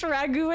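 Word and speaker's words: ragoût: about it it was Ragu rag out in French Ragu and Italian rag in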